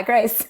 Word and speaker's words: Grice: It is Grice for you, is it not? What? Do you say Grice or Greece? Yeah, the guy with the Maxims. Grice. Yeah, like the Maxims. Yeah, Grice.